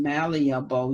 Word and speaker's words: malleable: Now I figured that the EA is not going to be separate because, or the dot two, because in malleable you say ia, malia, you say both of those letters.